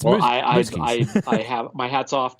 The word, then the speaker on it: Muzquiz: because Frank has the best last name to pronounce. So I get a welcome change between the two. So it's Muzquiz.